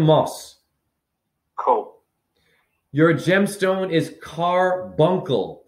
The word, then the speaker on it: carbuncle: Your gemstone is carbuncle. C-A-R, like your automobile. Bunkle.